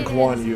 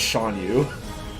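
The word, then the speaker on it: Shan Yu: I keep wanting to call this guy Guan Yu whenever I say his name and think it, but no, it's Sean Yu.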